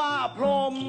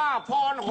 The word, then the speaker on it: พรหม: เปร อ่ะ ตาม ใจ อัน นี้ ก็ อ่าน ว่า พรหม แต่ ฉัน ว่า พร ผม เชิญ ครับ ผม ตาม